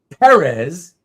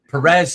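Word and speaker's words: Pérez: Because he always meant for people to pronounce it properly. It's supposed to be Perez.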